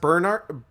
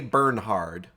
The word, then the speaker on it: Bernhard: supposed to be pronounced bernard bernard or bernard but there's an h in there so i like to say burn hard he knows what he's